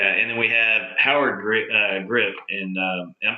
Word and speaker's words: Gripp: Yeah, and then we have Howard Gripp, and I'm pronouncing that right? Gripp.